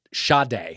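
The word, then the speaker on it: Sade: because of a typo one says it's pronounced sha day shut but when they were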